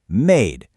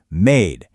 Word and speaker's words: made: What exactly does magic E do to that A? It totally becomes made. The magic E jumps right over the D, taps the A on the head, and makes it say its alphabet name.